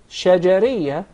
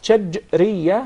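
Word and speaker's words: شجرية: It's commonly mispronounced. Some of even the Arab would say shajariyah, and there is a big difference between both of them. When there is a sukoon on the letter jim, that's shajriyah, means from the middle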